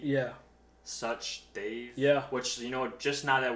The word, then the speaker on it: Sachdev: It's the word such and the word they've, and you just put them together.